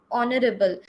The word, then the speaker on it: honorable: because our you know honorable the pronunciation is starting with o that is a vowel sound our principal is an